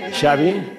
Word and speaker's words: Xavi: Andrés, ¿cómo se pronuncia este nombre? Xavi.